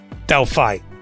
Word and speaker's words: Delphi: The name is pronounced Del Fly, but without the L. So you're saying like Delphi.